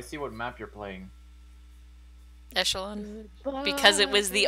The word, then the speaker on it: echelon: I call it Echelon. It's supposed to be a soft CH. It's like, I don't know, French.